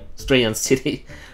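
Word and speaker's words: Striaton City: STR stays. EA say yeah. TON say ton. EI on. Strayon City.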